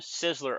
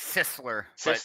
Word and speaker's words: Sisler: All right, we've been pronouncing your last name Sizzler all day long. Is that right? Uh, that'll work. It's Sisler.